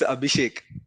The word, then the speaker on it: Abhishek: bro you pronounced you you spelled my name in all ways wrong possible it's abishek abinash I think only the first like it's the most uh misspelt version of abishek I guess anyways yeah